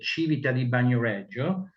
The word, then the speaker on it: Civita di Bagnoregio: You can read this strange name for many people, which is the Civita di Bagnoregio. So this is the right pronunciation.